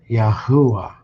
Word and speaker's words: Yahuah: Such as you see here I A O U and E with the U A having the U sound which agrees with the Assyrian pronunciation Yahuah. And is pronounced Yahuah.